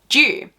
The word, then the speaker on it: dew: So I say them dew and the Americans pronounce it with a hard D, so it's dew, like it's due at this time or there's dew on the ground. But in Australia, we say dew, like the nationality, unfortunately.